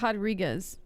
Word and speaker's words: Rodriguez: I like how you say Rodriguez. That's how you're supposed to say her name, apparently.